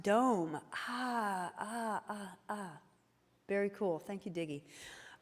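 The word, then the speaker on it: дом: grandma oh fun fact home in russian is pronounced dome very cool thank you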